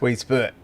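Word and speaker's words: Weedsport: Weed Sport would be number 3, and it's pronounced Weed Spurt.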